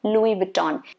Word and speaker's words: Louis Vuitton: people do not know so louis vuitton s is supposed to be silent louis vuitton okay and then you